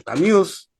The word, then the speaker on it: Camus: A ver, Heidegger, está también Sartre, como le llaman algunos, Sartre, está también Albert Camus, o Camus, en la pronunciación francés, y está también Jasper, un filósofo alemán también existencialista.